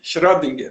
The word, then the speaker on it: Schrödinger: mandaram a pronúncia do Schrödinger. Schrödinger.